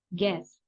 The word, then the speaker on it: guests: Jangan guests, tapi guests. Artinya adalah tamu.